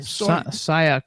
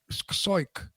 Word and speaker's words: Siok: And how do you pronounce Ted's last name? Siok, I think. Soit? S-O-I-T? S-I-O-K. Soik.